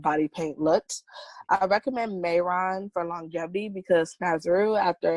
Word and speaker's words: Mehron: Yes, Snazaroo is spelled Snazaroo, and Mayron is spelled Mehron.